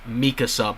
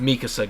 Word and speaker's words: Mikasa: Okay, about the whole Mikasa thing, which, yes, her name is pronounced Mikasa, by the way. I was seeing some videos yesterday of some people like, no, it's pronounced Mikasa, guys.